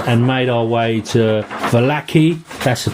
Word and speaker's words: Vallaki: So we had just recovered from the kind of being jumped by the wolves and made our way to Vallaki. That's the pronunciation.